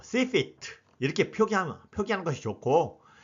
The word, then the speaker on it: CFIT: 이것을 시피트 이렇게 발음하시면 됩니다.